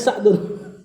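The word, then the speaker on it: سعد: Namanya Sa'dun. Ah ini yang kita kenal dengan Saad ya. Saad. Saad bin Abi Waqqas. Ah begini bacanya. Sa'adu bnu Abi Waqqas.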